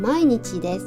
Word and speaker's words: 毎日: 할 때 쓰는 표현인데 여기에다가 도자를 써가지고 얘 발음은 마이고 읽어요 자 같이 읽어보고 마칠게요 자 매일은 마이니치 매주는 마이슈 그다음에 매달의 게로 읽으면 마이데 그다음에